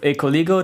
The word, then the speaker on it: Ecoligo: You are the founder of Ecoligo. Do I pronounce it correctly?